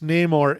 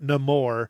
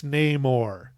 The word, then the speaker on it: Namor: the character Namor and it is pronounced name or it is not no more that's some Disney they made up it's Namor he is a character from the Marvel Universe going back to 1939.